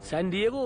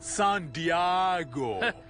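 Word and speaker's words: San Diego: सैन डिएगो वाले के साथ पंगा ले लिया है। असल में उसे प्रोनाउंस करते हैं सान डियागो।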